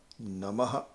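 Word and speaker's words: namaḥ: Nama So here the Visarga, Namaha, the Visarga is not counted as a syllable. So the Visarga is something which you enunciate with the breath, with a conscious effort to have the breath. So Nama, otherwise it will be Nama. But here's Namaha.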